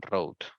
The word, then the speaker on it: Rhode: Rhode Island, sí, se escribe Road, R-H-O-D-E, Road.